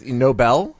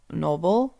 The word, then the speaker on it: Nobel: 2024 has Noble prizes Nobel isn't it pronounced no Noble yeah I've always heard it as Nobel Peace Prize the noble I think there's two ways of saying it Chris any reward can